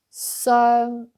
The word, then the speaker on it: 傷: So let's try that with add sound in the beginning. Then we will pronounce this sung. Also this sound earn and then sung. So you see, I close my mouth, sung at the end.